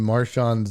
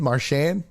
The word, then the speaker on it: Marchand: Can anyone else name Marchand's nickname?